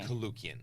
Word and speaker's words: Koulloukian: be interviewing he and you have to pronounce your last name for me kukan kukan okay when you see you're like what